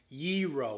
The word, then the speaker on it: gyro: So as you entered Chicago, there was a big sign as you parked that had it phonetically spelled YEE-RO, Y-E-E-R-O, not gyro like the little toy or gyroscope.